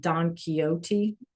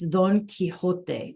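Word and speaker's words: Don Quijote: And maybe you've heard of in English we pronounce it donote. All right. But it's Don Kiote de la.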